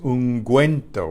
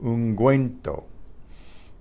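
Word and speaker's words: ungüento: double dot the on this you so it's unguento we pronounce the you unguento the word in English unguent or it's used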